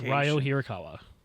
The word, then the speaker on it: Ryo Hirakawa: It's Ryo Hirakawa.